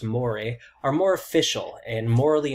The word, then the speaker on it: mores: on the other hand which looks like moors but it's pronounced mori are more official and